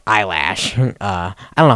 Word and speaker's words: Eilish: Let's say, for example, it was like a fake thing from like Billie Eilish or whatever. How do you say eyelash?